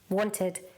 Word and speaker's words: wanted: You pronounce the ED as id, not ed, id. Wanted, ended, halted.